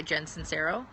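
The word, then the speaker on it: Sincero: badass the book by Jensen cero I think that's how you say her name it's si NCE ro it's called your badass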